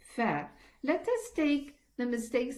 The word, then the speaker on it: ف: Let us pronounce it properly. Fa. I'm pressing the edge of the upper incisors against the the inside of the lower lip, so that the letter fa is heard properly.